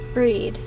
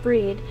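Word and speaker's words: Bríd: a famous Irish saint it's pronounced with a long e breed similar to the English word breed with the final D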